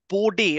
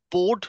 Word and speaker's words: Bode: All right, this is the Bode or the Bode Museum, however way you want to pronounce it.